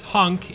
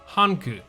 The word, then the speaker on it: Hank: regarding Resident Evil Hank in Japanese the Resident Evil character we know as hunk in English is pronounced hanku which the name in this